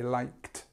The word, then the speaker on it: liked: have you noticed how although there's a d here a du we actually say liked so that's what happens